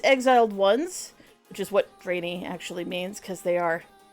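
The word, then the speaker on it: draenei: D the the drainy I will be saying drainy not Dr or drenai or any other pronunciation they are the draes and uh I'm not going to change that anywhere I know it's ji but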